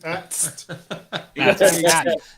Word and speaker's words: AT-AT: AT-AT. That is how you say it. Kick in there the egg. And then ATRT. After. Yeah. Sounds like my cat. Yeah. See, Frankie, all the real fans say AT-AT.